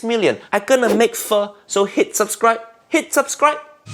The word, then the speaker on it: pho: Niece and nephew, Uncle Roger's so close to 6 million subscribers now, and when Uncle Roger hits 6 million, I'm gonna make pho, so hit subscribe.